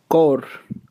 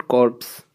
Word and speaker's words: corps: देखिए जो ये फर्स्ट वाला CORPS है, इसका प्रोनाउंसिएशन होता है कॉर, और इसको बोलते हैं सेना की टुकड़ी, A division of army, group of army person. कॉर, नॉट कॉर्प्स।